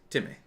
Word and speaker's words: Timmy: It's not an A. It's there's no accent on the last syllable. Timmy. It's just Timmy.